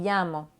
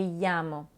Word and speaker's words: llamo: Il faut faire attention par contre parce que quand il y a deux L, la prononciation est différente. Un peu comme on a en français.